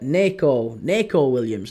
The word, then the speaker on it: Nico Williams: No, it's exactly the same. Yeah, both are Nico Williams. I also pronounce it Nico. Nico. As in the Forest defender, Nico Williams. It's Nico Williams. It's exactly the same. Both are Nico. It's just that one's N-I and the other's N-E.